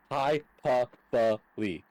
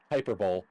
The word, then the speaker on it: hyperbole: That is called hyperbole, which is pronounced hyperbole, not hyperbole.